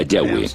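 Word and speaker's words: Yahweh: más íntimo y personal que normalmente se pronuncia yahwe yah los pasajes con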